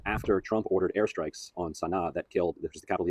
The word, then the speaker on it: Sanaa: I believe Sana'a is how you say the capital.